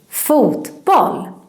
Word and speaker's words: fotboll: And when you pronounce it in English, you kind of pronounce it like it's all the same word. Football. It's also quite flat. Football, but not in Swedish. In Swedish, we say this word like this, fotboll.